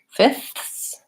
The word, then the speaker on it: fifths: position so north star fifths widths it's a little harder in these because I have an additional consonant before my th sound we have a question